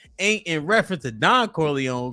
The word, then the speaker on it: Corleone: I hope that Corleone ain't in reference to Don Corleone because the E is silent.